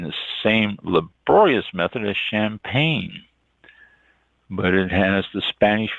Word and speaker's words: champagne: is the next one champagne c h m p a g NE e champagney if you want to mispronounce it really bad champagne is one of